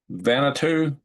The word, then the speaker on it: Vanuatu: Vanuatu.